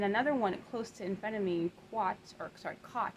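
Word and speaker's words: qat: And then another one close to amphetamine, cot, it's Q-A-T, pronounced cot.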